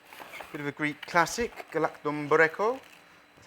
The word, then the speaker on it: Galaktoboureko: So this week's dessert is a bit of a Greek classic, Galaktoboureko. That's how I pronounce it, but it's basically a Greek semolina